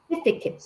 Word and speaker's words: certificate: certificate. 약간 Certificate. ticket 같죠? train ticket 할 때 그와 비슷한 발음으로 certificate. Certificate.